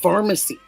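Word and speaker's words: Farmasi: is what the company is called pharmacy but it's spelled Can you see it?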